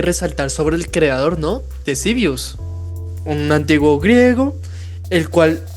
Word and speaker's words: Ctesibius: Sí, curioso, Nicolás, que se escriba con K, pero pues se lee Ctesibius.